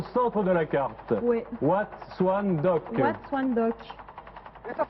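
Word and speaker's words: Wat Suan Dok: Wat Swan Dock. Watchung Dock. Et ça s'écrit comment, s'il vous plaît?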